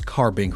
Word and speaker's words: Carbink: never heard someone pronounce carbink wrong. Not to say that you can't if you really tried. But uh it's carbon Carbink. Carbink. It's not ink. It doesn't stink.